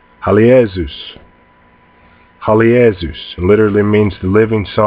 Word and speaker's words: Halios: This name, I'll pronounce it for you slowly, is pronounced Halios. Halios.